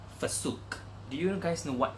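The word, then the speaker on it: FCUK: This pair of brokes is from a brand called Fasuk. Do you guys know what Fasuk is? Okay, my friend actually pronounced it as Fasuk.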